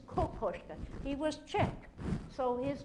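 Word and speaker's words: Kokoschka: the koska Capers from now on never say kakashka right promis it's koska he was Czech so his name is pronounced but Czech white koska yeah just way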